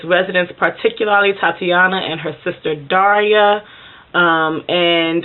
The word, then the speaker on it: Tatiana: self sitting even though I know in Russian is pronounced Tatiana it's still felt like my